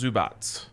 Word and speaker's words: Zubac: entire nba zubac uh love me some zoo box pronounced zubots zubot's even better um he's not gonna